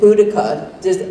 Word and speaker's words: Boudica: And Boudica, I don't know if anyone knows it, from history, or Boadicea, people pronounce it either way.